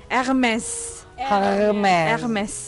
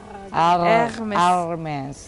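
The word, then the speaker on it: Hermès: Hermes. Kamu kan udah belajar bahasa ini, jadi R-nya itu R-nya harus di sini. Hermes. H tidak pernah diucapkan.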